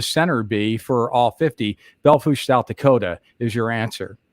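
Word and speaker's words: Belle Fourche: Hills go over to Bell foosh and that's not said Balfour's that said valve fat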